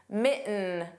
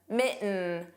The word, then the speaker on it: mitten: The T in kitten was not pronounced.